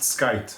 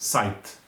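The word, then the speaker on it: scythe: and we've used that it's it's it's not pronounced skype aren't it's pronounced sight okay and it's the tool that we use to to cut down the flowers it's called site your in your in norwegian lj or that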